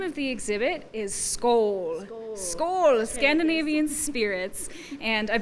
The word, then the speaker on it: Skål: And the name of the exhibit is Skål. Skål, Scandinavian Spirits. And I've been trying to tell everybody I know that even though it's spelled S-K-A-L, the A is actually pronounced like an O-A. It's right. Skål.